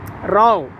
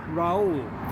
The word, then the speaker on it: Rao: Rao. Raul. Professor M.S. Rao. MS Rao. So you may not be able to pronounce.